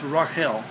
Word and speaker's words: Rachel: he loved Rachel uh pronounced correctly it's Rael uh he though he